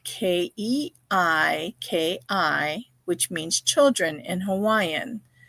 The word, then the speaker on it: keiki: In fact, that's our word for this week, and that word is keiki, and that is spelled Keiki, which means children in Hawaiian.